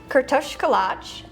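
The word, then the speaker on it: kürtőskalács: Uh it's pronounced Kto Kalatch.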